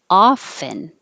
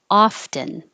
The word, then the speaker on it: often: say this two ways you can say without the t often or with the t often often or often they're both correct and you'll hear people in different parts of the country or maybe just different groups of friends and people that are talking to each other a lot saying one or the other so take your pick jiu-jitsu one two three